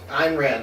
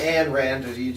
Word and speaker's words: Ayn Rand: The audiobook said Ayn Rand. Ayn Rand, alright. That sounds better than Anne Rand, where you just ignore the Y.